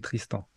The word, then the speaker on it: Tristan: Avec le prénom, c'est et le nom, c'est Tristan.